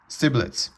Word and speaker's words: Stibitz: I I mispronounced it here. Stibitz.